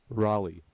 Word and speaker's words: Raleigh: it can we get a sound clip Google Rolly okay that was close two hours from home